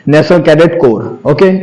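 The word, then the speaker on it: Corps: करते हैं national cadet कोर्स कह देते हैं या को कह देते हैं तो ओनली हमारे क्या बोलना है नेशनल कडिट कोर ओके लिखा जाता है सी ओ आर पी एस कोप्स नहीं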